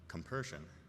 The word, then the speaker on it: compersion: the idea of uh compersion. Am I saying it right? Yes.